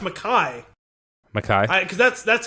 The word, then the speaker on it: MacKay: I actually looked up the pronunciation because I wasn't sure if it was Mackie or McKay, and I think it's Mackay.